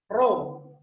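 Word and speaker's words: ρ: Ini bacanya, hurufnya ini mirip huruf P ya, tapi ini bacanya adalah Ro bacanya.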